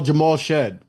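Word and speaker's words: Jamal Shead: Oh, Jamal Shed.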